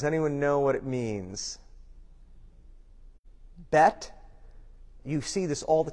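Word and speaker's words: בית: Bet, you see this all the time in synagogues. They will spell it on the sign, Beth, B-E-T-H. But pronunciation-wise, it's B-E-I-T. It means house.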